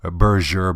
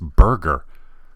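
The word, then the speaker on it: Berger: group that owns vavi I've actually heard people pronounce this as berser bullets I don't know maybe they think the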